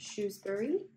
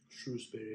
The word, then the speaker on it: Shrewsbury: Is that how you pronounce it? Shrewsbury? Shrewsbury, yeah.